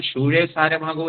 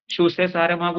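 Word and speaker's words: José Saramago: യോഗ്യതയുള്ള ഒരാളാണ് ഷൂസേ സാരഭാഗം അതിന്റെ ഒരു ഉച്ചാരണം ഷൂ സാരമാഗോ എന്നും പറയാറുണ്ട് ജോസ് ഷൂ സാരമാകൂ എന്നൊരു പോർച്ചുഗീസ് വ്ലോഡ് ആണ് നമ്മൾ അത് മലയാളീകരിക്കുമ്പോൾ ഷൂസേ സാരമാകൂ എന്നൊക്കെയാണ് മാതൃഭൂമി ഒക്കെ അതിനെക്കുറിച്ച് മലയാളത്തിൽ എഴുതാറ് അതുകൊണ്ടാണ് ഞാൻ ആ ഉച്ചാരണം പറഞ്ഞത് ഭാഷാഭോഷണിയിലൊക്കെ ഷൂ സാരമാകൂ എന്നൊക്കെ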